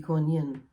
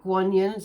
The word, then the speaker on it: Kuan Yin: Okay, so like Kuan Yin, sometimes it's pronounced G-U-A-N, instead of Kuan Yin. Some say Kuan Yin, so it's like just depending on which part of Asia you relate to her as being.